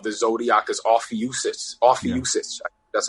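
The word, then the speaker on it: Ophiuchus: thirteenth sign of the zodiac is off uses off young sister that's how you say it yeah you see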